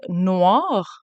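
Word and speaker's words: noire: So the feminine form ends with an E, but you still pronounce it noir.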